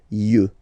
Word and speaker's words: yeux: œil, un œil, des yeux, des yeux, des yeux, yeux, okay? Don't pronounce the final X as usual. Yeux, des yeux, all right?